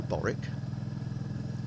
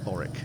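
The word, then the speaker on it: Borwick: because i've been through boric or baltic now i'm from the south of england and we say things that's about b-o-r-w-i-c-k or similar as boric that's how i'm not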